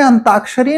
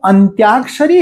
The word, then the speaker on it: अंत्याक्षरी: खेलते हैं तो उस वह असल में अंताक्षरी नहीं है वो अंत्याक्षरी है अंत में आने वाले अक्षर से शुरू करके जो खेल खेला जाता है उसे हम अंत्याक्षरी कहते हैं ऐसा हम याद रखेंगे